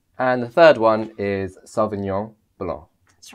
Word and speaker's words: Sauvignon Blanc: You were saying how it's also pronounced kind of like a Y in the English language. Sauvignon Blanc. Nyon. And it's the N at the end, which is also a different sound to the English language, which it's not Sauvignon. No, it's not non. Sauvignon. No, Sauvignon. See, even I got it wrong.